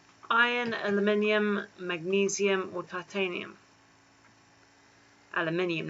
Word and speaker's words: aluminium: aluminium magnesium or titanium aluminium not aluminum yes we're not american so the song goes i pronounce it aluminium because there's an eye next to the unm day three what feature